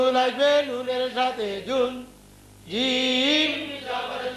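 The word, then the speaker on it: جيم: ফোঁটা তার নাম জিম তার নাম জিম জিম উচ্চারণ কেমন হবে জিম জিম মাঝখান থেকে শক্তভাবে আদায় হবে জিম জবর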